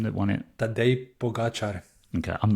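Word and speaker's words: Pogačar: its uh pros and cons how do you pronounce the Chap's name that won it that they pogachar okay I'm not going to try and do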